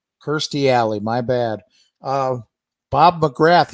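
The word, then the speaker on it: Kirstie Alley: age 72 right uh Christy alley at 71. thirsty oh that's right you're right my bad I mean I've say that every time I say her name that is the most mispronounced name in the history of TV Kirsty alley my bad uh Bob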